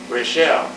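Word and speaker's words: Raschel: is the last name We spelled it r a s c h e l they pronounced it Rochelle so I went with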